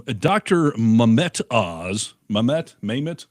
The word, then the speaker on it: Mehmet: Maymet? How do you say his name? Mehmet.